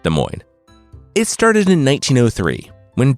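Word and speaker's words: Des Moines: 16 km west of Des Moes Iowa just kidding I I know it's pronounced De Moine it started in 1903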